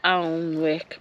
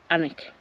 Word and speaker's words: Alnwick: Well, Anik is so the English say Alwick. But the locals say Anik.